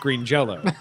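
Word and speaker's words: Green Jellÿ: still pronounced green Jello.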